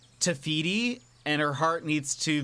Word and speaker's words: Te Fiti: good stuff about it it's pronounced te fiti and her heart needs